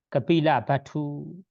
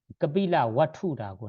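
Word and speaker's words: Kapilavastu: 첫 번째로는 롱비니 부처님 탄생지로 가고 두 번째는 버스로 우리가 이동할 때는 2시간, 3시간 거리가 있는 여기 까빌라 바투 지금 발음으로는 까빌라 바투 개헌전에는 까빌라 와투라고 나와요.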